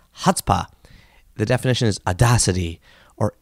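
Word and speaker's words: chutzpah: again that's C h UT z 2z pah pronounced hutzpah the definition is audacity or impudence synonyms are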